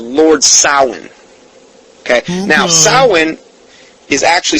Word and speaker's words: Samhain: celebrates their God called Lord sahlan okay now xoan is actually spelled s am h AI n sounds like Samhain but sound is actually the